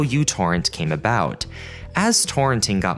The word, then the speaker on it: µTorrent: Or technically, MicroTorrent, or µTorrent, the name of the letter in the Greek alphabet. But because this letter at the beginning of the word resembles a U, people just started calling it that.